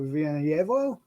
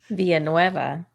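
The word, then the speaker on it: Villanueva: by brad brown nathaniel villanuevo written i mispronounced that how you pronounce it via nueva that's exactly what i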